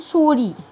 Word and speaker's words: souris: بعد كده عندي فار une souris. فار une souris مؤنث. une souris. souris SOURIS SOURIS. وهنا برضو الأس من الحروف اللي ما بتتنطقش في آخر الكلمة. for une souris for une souris for une souris.